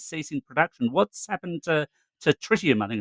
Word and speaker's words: Tritium: What's happened to tritium? I think it's pronounced. Yeah, for some reason, everybody calls it trinium, even though there's an extra T in it.